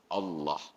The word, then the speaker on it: Allah: fasih bertingkat ke Allah padahal Allah itu dia harus tafkhim dibaca harus ada bunyi O nya Allah jadi anomali dalam bahasa